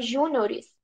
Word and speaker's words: juniores: Juniores quem sabia disso plural de Júnior é o júniores com deslocamento de sílaba tônica deslocou né Júnior Era